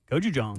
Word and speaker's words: gochujang: Gochujang. I'm not going to you for pronunciation.